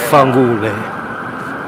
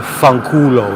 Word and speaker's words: fanculo: Fangule. Or fanculo is really how you say it. The Italians in New York go, fangule.